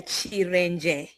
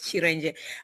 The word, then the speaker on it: Chiren: Uh my name is Chir. That's actually how I pronounce it. Yes. Chir.